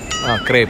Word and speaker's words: crêpe: and so, Lekshmi bought crepe (mispronounced) isnt? Its Crêpe :D All of you